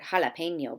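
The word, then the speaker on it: jalapeño: heard the Spanish word jalapeno before did you know that it started with a J here are a few other Spanish words that begin with the letter J but with an H sound Hammond jabón ki Rafa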